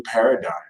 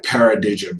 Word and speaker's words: paradigm: birth a whole new paradigm is Beverley going to gone on my paradism saying day got corrected by a Libra and it's called and pronounced paradigm and the Ace of